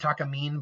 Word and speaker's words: Takamine: it's taka in mind I think that's pronounced Takamine but let me know that if I'm wrong it's either talking mean or talking mine I think it's talking mean that sounds more like a name anyway and